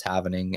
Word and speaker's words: halvening: It's literally spelled like HALVENING. Yeah, it's like happening, but it's the having is happening. So it's the happening. Or it's evening.